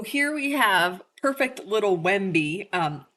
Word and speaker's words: Wemby: So, here we have perfect little WBY. Um, that is spelled we mb y. It's sort of a funny name. It's like Wendy but with an M.